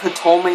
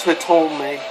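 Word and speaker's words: Hitomi: I believe Hitome is the correct pronouncement, but I love the character.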